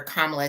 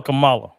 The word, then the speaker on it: Kamala: do you think it is so hard for Kamala to connect to the Black man? Well, let me see. So I'll read it. Wait a minute. I call her Kamala.